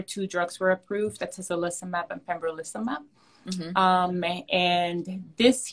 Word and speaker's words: atezolizumab: So you were starting to talk about the, I don't even know if I'm saying it right, olentizumab. Atezolizumab and pembrolizumab.